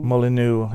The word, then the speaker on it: Molineux: So the first motion was something they call we've been calling it Molinex because we can't pronounce it. Molyneux, if you're French. Molineux, which is a motion,